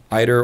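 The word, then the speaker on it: ITER: Collider studies particle physics either or eater depending on how you say it studies uh Fusion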